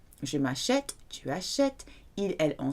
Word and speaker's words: m'achète: that s'acheter has no accent on, but je m'achète, because of that silent, or we call it